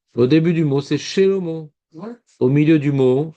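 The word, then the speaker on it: שלמה: Et Shva Nad, c'est quand on dit par exemple Shelomo. Puisque c'est en début de mot, on ne dit pas Shlomo, nous les juifs.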